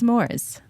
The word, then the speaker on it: s'mores: this it's National national schmores day so I was going to ask you like how do you say schmores how do you say it it's s'mores like give me some more some more you